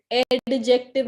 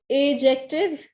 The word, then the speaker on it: adjective: और ये एडजेक्टिव नहीं है, मैंने बहुत बार आप लोगों को बताया है, डी बिल्कुल साइलेंट होता है। एजेक्टिव पढ़िए इसको, एडवर्ब एडवर्ब पढ़ा जाएगा, एजेक्टिव। कुछ कुछ चीजें समझ नहीं आती इंग्लिश की।